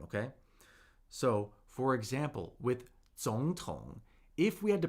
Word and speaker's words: 总统: 总统. 总统. We have 2 third tones. 2 third tones right here. And remember, when we have 2 consecutive third tones, they get pronounced as second tone, third tone.